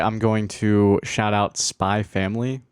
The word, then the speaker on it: Spy x Family: Welcome back to Anime Corner, and today I'm going to shout out Spy Family, which is spelled Spy X Family, the same as Hunter x Hunter.